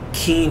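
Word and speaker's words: Kean: professor out in uh Keene University in New York it's a very funny University sounds like the word smart but they say Keen just outside of Manhattan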